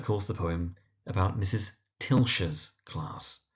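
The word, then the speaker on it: Tilscher: Tilshshire's class. So, it's pronounced Tilshshire.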